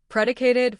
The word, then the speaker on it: predicated: Stress, predicated four syllables.